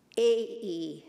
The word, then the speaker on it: Ai: It's spelled, the city that God is directing Abraham to go is spelled capital A-I. So I found out that it's A-E is how you pronounce it.